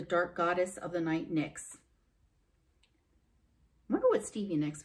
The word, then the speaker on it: Nyx: she ever knew that i know it's spelled differently but seems kind of neat that your last name is like kind of the same sound as a goddess it is said that